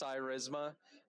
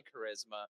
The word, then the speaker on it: Cyrisma: It's actually pronounced Cyrisma. It's short for cyber risk management, so that makes it easier. But if you say charisma, you come up to our booth.